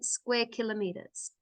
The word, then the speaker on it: square kilometers: So that's pronounced square kilometers. Yeah, square kilometers. We don't really say km2. We actually say it, square kilometers.